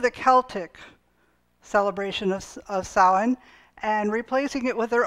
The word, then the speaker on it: Samhain: november 1st and they called it well it's pronounced i'm told samhain but it spells s-a-m-h-a-i maybe you've seen that